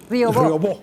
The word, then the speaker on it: Riobó: Y recuerdo la declaración del señor ya se me fue el nombre, José Manuel Riobó, gracias, con acento en la O.